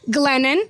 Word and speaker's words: Glennon: Number two, Glennon. Okay. Rhymes with uh lemon.